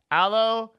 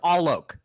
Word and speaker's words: Alok: you introduced yourself before allo Canoga no it's all Lok oh I'll look yeah I'll look Devin Kevin it's easy buddy it's not all maple it's all oak all oak oh okay